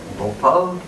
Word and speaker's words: Bhopal: So, Bhopal, it rhymes with Gopal.